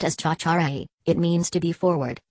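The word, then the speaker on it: tjatjarag: Pronounced as cha-cha-ray, it means to be forward, overeager, overexcitable, and or annoying.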